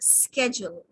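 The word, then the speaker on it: schedule: इसकी स्पेलिंग यही रहेगी शेड्यूल यह जो ह है ना इसको हल्के से बोलना शेड्यूल और उसी तरह उसे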